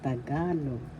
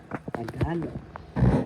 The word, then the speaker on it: Tagalog: syllabolta ka third syllable the accent is in the second syllable so you pronounce this or because tagalog tagalog and there are examples